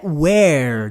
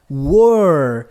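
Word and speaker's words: were: your perceba aí que a pronúncia não é Where não não era aquele com H que significa onde Where agora War você estava você era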